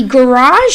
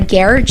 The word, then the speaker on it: garage: speaking word world a garage sale or a garage sale both pronunciations are correct or a rummage sale